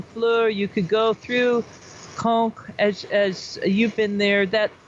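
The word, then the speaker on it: Caen: south from um fleur you could go through conch as you've been there that that is it's kind you know it's a big city cool right but yes conch yeah yes ceo and que no uh c-a-e-n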